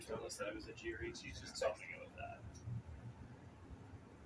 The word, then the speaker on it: Aguirre: There was a player that was texted on who told us that it was Aguirre. She's just talking about that. It must be Aguirre. I'm going to go with Aguirre, though.